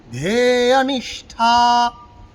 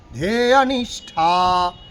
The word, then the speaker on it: ধ্যেয়নিষ্ঠা: তদন্তঃ স্ফুরত্বক্ষয়া, তদন্তঃ স্ফুরত্বক্ষয়া, ধ্যেয়নিষ্ঠা, ধ্যেয়নিষ্ঠা, ধ্যেয়নিষ্ঠা, মধ্যনিষ্ঠ ঠয় কিন্তু মূর্ধা স্থানে লাগিয়ে উচ্চারণ করব।